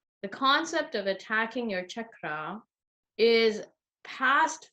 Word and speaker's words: chakra: mispronunciation of the word chakra, it's not anything else. It's called chakra with a cha sound, almost like Charlie. Chakra, correct. Yeah, chakra.